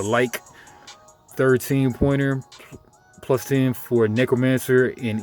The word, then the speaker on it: lich: A lot of people say Lich, but I believe it's really actually pronounced the like.